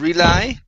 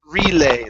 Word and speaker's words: relay: uh this word here instead of rely this is relay long a sound relay relay okay very